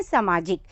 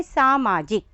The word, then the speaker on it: सामाजिक: हम इसको बोलेंगे भी सामाजिक, जबकि ये क्या है, सामाजिक। और अधिकतर जब बच्चे जैसे बोलते हैं तो वैसे ही वो लिखते भी हैं, तो शब्द भी क्या लिख देते हैं, सामाजिक, जबकि सही उच्चारण है सामाजिक।